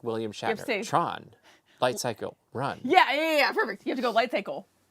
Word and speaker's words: Tron Lightcycle Run: Speaking of the future, Tron Lightcycle Run will soon be open at the Magic Kingdom.